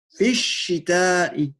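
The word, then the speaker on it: في الشتاء: Il y aura à la fois une lettre shamsiya, donc on ne prononcera pas le lam. Et on dit bien fi shita'i.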